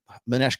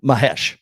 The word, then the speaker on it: Mahesh: out right now uh Manesh gives me is it mes I'm GNA make sure I pronounce his name right um yeah Mahesh Mah m m a m- a sorry I was mispronouncing your name bro Mahesh is my my shorts